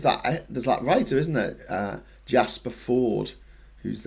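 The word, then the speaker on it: Fforde: Graham, in Welsh, F is pronounced like V, so FF is pronounced like F. There's that writer, isn't it? Jasper Ford, whose name begins with a double F, who writes the Tuesday Next series.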